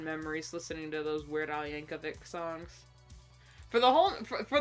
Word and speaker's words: Yankovic: For the longest time, I thought his name was Weird Ali Yankovich because it ended in ch. I thought it was the ch sound, but no, it's a c sound.